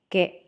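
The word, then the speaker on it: ケ: Katakana ke, pronounce as ke, ke, ke.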